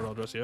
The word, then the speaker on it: Orlghelovar: Or Orlghelovar. I don't know why I keep saying Orca. It's just wrong. just straight up wrong. Not how you say it.